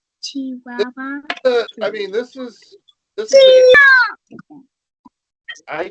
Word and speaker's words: Chihuahua: Chihuahua.